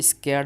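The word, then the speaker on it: scared: सो ही यहां पे देखिए स्केर्ड में आपका फिर से यहां पे जो आर है वह साइलेंट रहेगा।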